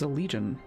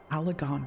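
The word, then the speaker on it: Allagan: rampage laid bare ancient alagon ruins of which no record existed see that's another thing that i've been mispronouncing this entire time i thought it was a legion alagon ruins there are certain differences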